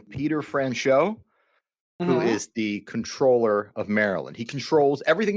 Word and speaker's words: Comptroller: I believe it's pronounced comptroller. Comptroller. It's like there's that P in there.